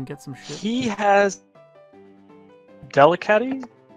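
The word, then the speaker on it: Delcatty: He has Delicati? Delicati. Yeah, you pronounced something right.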